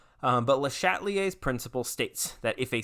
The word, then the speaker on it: Le Chatelier: principles of modern chemistry le chatelier's principle pronounced not you know it does it's not let chatelier like it is le chatelier um i i